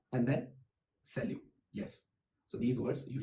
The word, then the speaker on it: salut: And another word for hi in French is salut.